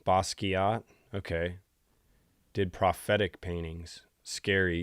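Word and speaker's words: Basquiat: Bosuat pronounced like a K, not a Q. Bosot.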